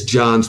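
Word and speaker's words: Johns: a Quaker um so it's John's with an S which is a very unusual first name you know people who are working or attend the institution we know to PR pronounce the S but but some some folks don't you know it's it's it's almost like a nickname you drop the S so so so this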